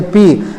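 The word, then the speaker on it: bi: as a neck, N-E-C-K, neck B-I to be pronounced as a P, neck P syndrome or the P syndrome.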